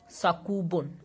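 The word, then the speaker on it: 作文: So if you will write these two together, then we would pronounce it sakubun, and sakubun means composition.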